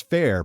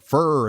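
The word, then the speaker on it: Fehr: at Fair says well my last name is fair pronounced fair f-a-i-r but spelled f-e-h-r and people say things like fur and such it's my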